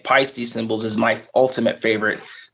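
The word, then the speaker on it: Paiste: I always laugh when people try to mispronounce pisty with pasty or something like that too do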